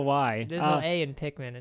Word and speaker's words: Pikmin: Why do you say it like that? What? Pikmin? Yeah, whatever. Pikmin? Yeah, I know. I sound like No, there's no A in that word.